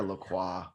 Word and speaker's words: LaCroix: Is it LaCroix or LaCroix? Okay, so I think it's LaCroix because when you go to their website, it's supposed to rhyme with enjoy.